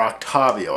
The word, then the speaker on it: Octavio: team by defeating Octavio, or Octavio, I guess. That's the correct way to pronounce his name.